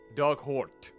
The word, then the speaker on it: Dugort: Dug is like the past tense of dig. Ort rhymes with hurt. Ort, hurt. Hort, hurt. Does it? Dug Hort.